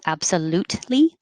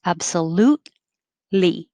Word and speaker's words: absolutely: but marriage 24 absolutely don't pronounce the t absolutely because the t and the l are made in the same place so your tongue will go up there absolutely just hold it no